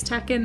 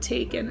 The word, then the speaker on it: takin: Takin? Yeah, that's the way I'm saying it. I don't know if that's how you're supposed to say it's takin, not taken.